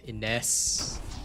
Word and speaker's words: Ines: run with in re let me hear a pronunciation in yeah iness okay I've done the Haven before let's actually